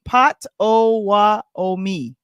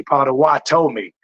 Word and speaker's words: Potawatomi: He gave us a pronunciation. I don't know if this is it. Can you see? Pot-o-wa-o-mi. Yeah, I just dropped another T. Potawatomi. You know what I'm saying?